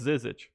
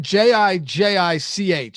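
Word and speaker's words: Žižić: be like, oh, that's Zizic or Zizic. Nobody's bringing J's into this. Well, if they one of them should at least say Zizic, yes, because we know the IC is the ICH.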